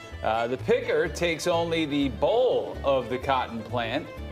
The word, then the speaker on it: boll: The picker takes only the boll of the cotton plant. It's spelled with an O, but it's basically a ball of cotton.